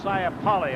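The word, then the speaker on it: Saipale: I pronounce this correctly It's s a i p a l e Sali I believe number 19 at any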